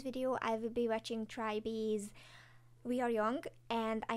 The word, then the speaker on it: TRI.BE: I know right now, that's what they told me I should pronounce it, Tribee, so hopefully I'm okay now.